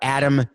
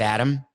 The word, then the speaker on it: Adam: We've talked about Adam Gase, the coach. I've mispronounced his name almost every time.